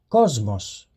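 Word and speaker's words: κόσμος: to note is that a sigma will sound like the letter Z when it precedes one of the voiced consonants so listen to the Greek word that means World Cosmos so as far as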